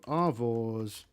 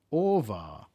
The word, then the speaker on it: Orvar: We'll go for so do Arvors. I don't even know where that name came from. It's a terrible name. Arvars? Orvar. Not Arvor. Orvar.